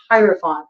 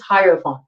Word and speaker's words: hierophant: trying to correct myself I always want to say herant but it's hierophant I even looked it up to make sure that I was pronouncing it correctly it is hierophant okay so whatever this